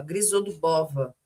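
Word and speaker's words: Grizodubova: Abraços da turma Grisodubava. Grisodubova.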